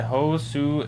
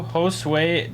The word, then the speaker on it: Josue: Adrian Santana and Josu DePaula. Well, I know this because I worked with the Josue, but it's pronounced Josue.